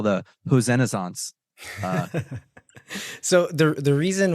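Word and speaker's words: Hoesen: what was the pronunciation is it who's or hosen because in the episode you said hen in the episode before but people still say hosen so I think in the Dutch pronunciation it's like somewhere in between the like hosen yeah I'll say hosen uh he had 311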